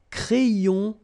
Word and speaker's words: crayon: And then when you get this Y between two vowels, then you will have this cré, so like if you would have I here, A-I, cré, and then another I here, yon, crayon, un crayon à lèvres,